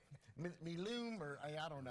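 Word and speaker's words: MLEM: We pronounce it MLEW, Space Agency. I'm sure like, Miloom, or I don't know.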